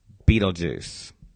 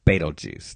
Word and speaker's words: Betelgeuse: But today I want to talk about Betelgeuse, or Betelgeuse, depending on how you like to pronounce it.